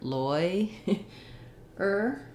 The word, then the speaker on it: lawyer: think if you saw lawyer more like loy er or lawyer that might help you a lot because the oi um is it's it it's not doesn't have the law even though it's spelled like law it doesn't have the sounds of law in it so that's i think